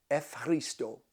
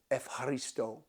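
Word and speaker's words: Ευχαριστώ: And that is Efharisto, Efharisto. It's a hard one because it's not Efharisto, it's Efharisto.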